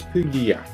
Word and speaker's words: Puglia: Puglia is pronounced by Italians as Puglia, whilst its English spoken name is often referred to as Apulia.